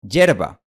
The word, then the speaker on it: hierba: De hecho, algunas personas pronuncian hierba como yerba. En este caso, la semiconsonante ya se ha convertido en una consonante completa. Y de hecho, la palabra hierba es una variante aceptada de la palabra hierba e incluso está en el diccionario.